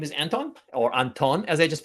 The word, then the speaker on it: Anton: I mean, I guess the original pronunciation would be Anton, not Anton, but I've been Anton for so long that I almost can relate to that and respond to Anton if need be.